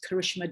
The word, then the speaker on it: Karishma: on twitter on facebook and on instagram at karishma design and that is exactly as my name is pronounced and exactly as design is written and